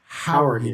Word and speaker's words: Jauregui: It starts with an H. Jauregui.